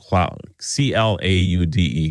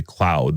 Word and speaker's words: Claude: Claude, C-L-A-U-D-E, Claude. Is that how you say it? I suppose. I always want to say cloud, but that's not right.